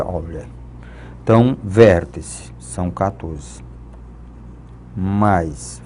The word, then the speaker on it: Euler: Relação de Euler. Ou a pronúncia correta seria Euler.